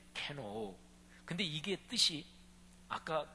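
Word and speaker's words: κενόω: 헬라어 발음으로 케노오, 이렇게 발음하는데 케노오.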